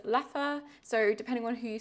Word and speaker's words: Leffe: So we were going to the Leffe Museum, also known as Leffe, I guess. I think in French is Leffe, and in Flemish, which is Dutch, it is Leffe.